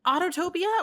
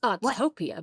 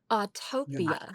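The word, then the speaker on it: Autopia: projects that you worked on were was it Autotopia or was it um other besides that? It's pronounced Autotopia, babe. Autotopia.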